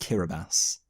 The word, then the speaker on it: Kiribati: The finished characters instead bear influence from Kiribati, which I think is in the Pacific. I've also, by the way, and no one can fault you for this, I'm pretty sure it's actually pronounced Kiribati.